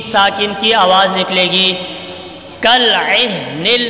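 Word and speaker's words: كالعهن: کالعہن، عہن میں عین کی آواز صحیح نکالنی ہے. عہن، دونوں مشکل حرف ہیں، دونوں کی آواز صحیح طرح سے نکالنی ہے تبھی تلفظ درست ہوں گے.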